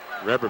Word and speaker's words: Reber: Reber back in. I'm going with the Reber pronunciation. That's what we had in southern Colorado, so. That's how it's pronounced down in Washington County.